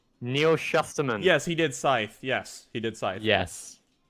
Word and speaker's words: Scythe: I'm still just trying to process your pronunciation of Scythe. Skies. That's how we say. Scythe.